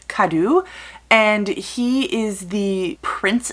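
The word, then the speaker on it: Kadou: of our main character but it is k-a-d-o-u so i'm going to go with kadu and he is the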